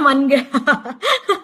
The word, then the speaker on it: manga: Ternyata manga saja dibacanya manga ya, manga.